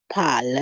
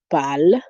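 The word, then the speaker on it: parle: say il fal el pal remember we say the e at the end of a word is usually silent in french and s again is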